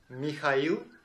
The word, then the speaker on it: Mikhail: Anyway, I usually pronounce my name as Mikhail. This is how it sounds in Russian.